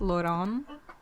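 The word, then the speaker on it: Lon'qu: say the names well it actually says you pronounce it as Lon oh really Lon I'm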